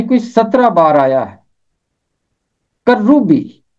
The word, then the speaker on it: کروبی: 17 بار آیا ہے۔ کروبی، کروبی، کاف کے اوپر زبر ہے، رے کے اوپر تشدید ہے، اور اوپر ہے پیش۔ کروبی، کروبی، کروبی کا مطلب ہے فرشتہ۔ کروبی حقیقت میں عبرانی زبان